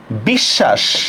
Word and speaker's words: বিশ্বাস: যেমন আমরা দেখি একটু, যেমন দেখেন বিশ্বাস। আচ্ছা, খেয়াল করেন তো বিশ্বাস শব্দের মধ্যে আমরা শটাকে দুইবার উচ্চারণ করি কিনা?